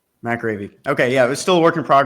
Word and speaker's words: McAreavy: Did I say it right, McAreavy? McAreavy.